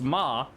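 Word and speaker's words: 马: for mom, and horse, which is pronounced ma, sounds like ma, which means mom. They're not identical because you got like tones and all that, like tonality, but basically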